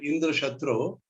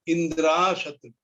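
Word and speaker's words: Indrashatru: So, however, instead of pronouncing the intended word Indra Shatru, which means enemy of Indra, Twasta mistakenly said Indra Shatru, making the A long, so that the meaning was changed to Indra, who is an enemy.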